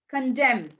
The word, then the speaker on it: condemn: upon M and uh n goes silent in these words N okay it goes Sil ENT in these words damn condemn column autum and him